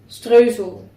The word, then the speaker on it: Streusel: So I am preheating the oven 350 Fahrenheit or 175 Celsius, and I have to start with making streusel. The Dutch way to pronounce it.